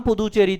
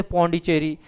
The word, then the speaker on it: पुदुचेरी: नाम पुदुचेरी था। बोलते थे पोंडीचेरी। तो यह लोग उच्चारण ही गलत करते थे उसका।